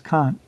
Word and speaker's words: conch: took the shell conch shell or I've heard it pronounced kunchch as well but I believe technically it's conchk but that would be